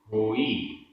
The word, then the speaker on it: होई: जोई, जोई सो होई। जोई में ई बड़ी है और होई में ई छोटी है, तो उच्चारण में भी डिफरेंस।